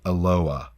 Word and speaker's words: Aloha: spelled the same way as Aloha but it's pronounced Aloha Aloha hmm sir Aloha don't pronounce the itch